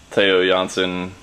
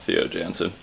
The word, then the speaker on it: Theo Jansen: with the you know taiyo johnson mechanism or not um i think that's how you actually say his name not theo jansen uh but yeah so